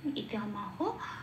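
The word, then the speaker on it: ইদমাহ: তাহলে পেলাম ঋষিকেশম তদা বাক্যম ইদ মাহ মহিপথে। আর ইদা কেন? কারণ দল হসন্ত নেই, তাই ঈদ বলতে পারবো না।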